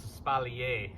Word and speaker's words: espalier: So in my opinion, and the way that we pronounce it, for a fact of the matter is it's espalier. It is a French term, okay?